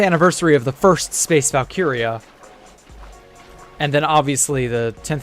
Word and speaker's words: Valkyrie: I mean, surely he's heard the word Valkyia enough to know that it's pronounced Valkyia, not Vulyrie or whatever.